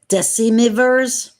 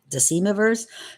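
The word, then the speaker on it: decemvirs: who would exercise the function I'm going to spell that for you all it's DEC e m v i RS deivers deivers who would exercise the functions of Chief magistrates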